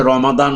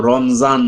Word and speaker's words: রমাদান: প্রথম ধন্যবাদ জানাই তোমাকে তুমি যে রমাদান শব্দটা উচ্চারণ করেছো এইভাবে অনেক বড় শিক্ষিত লোকরাও কিন্তু রমজান বলে তোমার উচ্চারণটা সবচেয়ে সুন্দর হয়েছে শব্দটি কোরআন হাদিসে যেভাবে